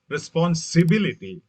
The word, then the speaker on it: responsibility: Responsibility, the stress shift to the third syllable.